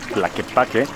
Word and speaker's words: Tlaquepaque: Amigos, si ustedes no están viendo este video con subtítulos, Tlaquepaque en realidad se pronunciaría así, Tlaquepaque, digamos, es dicho desde el inglés hacia el idioma náhuatl, Tlaquepaque así sería.